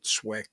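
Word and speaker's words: SWCS: it's not spelled correctly there it's not spelled swick but it's said it's pronounced swick it's the uh special the JFK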